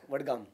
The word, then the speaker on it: Vadgaon: I got that pronunciation right? Yeah, Vadgaon.